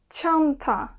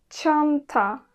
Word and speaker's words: Çanta: Ç deyince aklınıza cheese, chair gibi İngilizce kelimeler gelebilir.